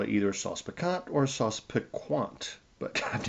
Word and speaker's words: sauce piquant: So you would call it either Sauce Picant or Sauce Piquant. But I've never heard it pronounced that way. It's Sauce Picant is all I've ever heard.